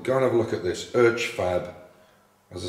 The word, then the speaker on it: Urchfab: And the last one is one called Urchfab, and that's spelled U-R-C-H-F-A-B, one word. Urchfab. I think the guy's called Matt Urch is his name, U-R-C-H. So it's Urchfab.